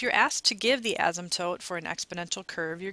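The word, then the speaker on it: asymptote: have something called an ASM toote notice that the P there is silent in the middle and the S here is pronounced a little bit more like a z so an ASM toote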